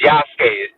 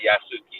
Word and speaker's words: Yasuke: I'm just gonna say it's Yasuke. That's how you say it, not Yasuki. It's Yasuke.